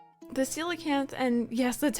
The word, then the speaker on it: coelacanth: The silicanth, and yes, that's how you pronounce the name, is one of the longstanding rare fish in the Animal Crossing series.